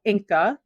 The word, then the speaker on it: Inqa: It's called Inqa. It's spelled INQQA. That is a closed loop system.